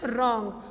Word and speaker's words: wrong: Okay, for example रॉन्ग. रॉन्ग में हमने W को प्रोनाउंस नहीं किया. क्रिसमस में T प्रोनाउंस नहीं हुआ.